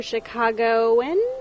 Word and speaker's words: Chicagoan: We're at summer conference in Chicago and you're Chicagoan?